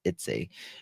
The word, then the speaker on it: Eutsey: Her name is Renesmay Eutsey. That's how you pronounce it. Eutsey.